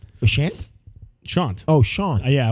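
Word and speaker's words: Sashant: Shant. But it's spelled S A S H A N T. Shant.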